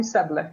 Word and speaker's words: Seble: Did I pronounce it okay? Sebil. Yeah, you're fine. You can call me Seble.